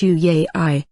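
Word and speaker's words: yuyay: love urukokka north spirit uia pronounced you yay i which means a non-embodied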